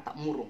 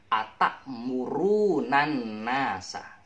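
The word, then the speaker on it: تأمرون الناس: Nah, tapi bukan atak murung, nanti dimarahin oleh Pak Ustadz. Jangan bacanya atak murung, tapi atak murunan nasa.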